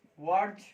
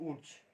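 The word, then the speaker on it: Wurtz: This is वर्ज reaction. वर्ज reaction. वर्ज नॉट वुड्स। इसका pronunciation है वर्ज reaction. जो teacher वुड्स पढ़ाते हैं, वह गलत है।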